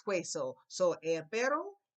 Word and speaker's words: hueso: never seen before, but you do know the H is not pronounced. So if you don't pronounce H, how would you pronounce this word for bone? If you said hueso, because you got a